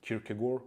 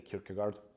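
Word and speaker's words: Kierkegaard: Nietze along with Kirkagore or Kirkagard. I also mix up the pronunciations. Kirkagor would be the appropriate appropriate one. In the west, especially in the US, people say Kirkagard.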